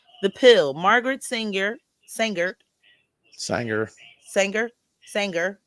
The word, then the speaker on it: Sanger: Sanger, like the sewing machine, y'all. Like she can sing. She a singer. For the women that's watching, like the sewing machine, Sanger. It's spelled the same way.